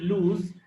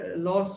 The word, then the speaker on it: lose: উচ্চারণটা খেয়াল করো, এটা হচ্ছে LOSE লুজ, আর SON এটা হচ্ছে সান। তোমরা অনেকেই লুজটাকে লস বলো, আবার অনেকেই সানটাকে সন বলো, এটা খেয়াল রাখবে একটু। তাহলে অ্যাট দিস হিজ ফ্যামিলি